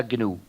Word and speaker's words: GNU: El sistema se llama GNU, es decir, GNU, y se pronuncia GNU.